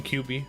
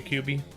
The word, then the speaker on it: QB: Call me QB. Okay, QB. That rhymes with cutie.